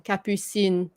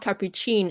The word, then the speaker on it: Capucine: Capucine. Because again, we don't say the S, right? Sin. But it's not cappuccine. It's that would be like Italian.